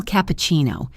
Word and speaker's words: cappuccino: The rest of the order, small cappuccino, is pronounced clearly. Let's focus on that tricky word, cappuccino. The stress is on that CCI part, which has a chi sound.